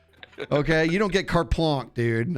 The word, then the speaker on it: blanche: Okay, you don't get carte blanche, dude. I think I said it wrong. It's blanc, not plonk.